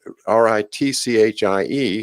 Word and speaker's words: Ritchie: And Ritchie is pronounced the same way as Ricci to us Americans.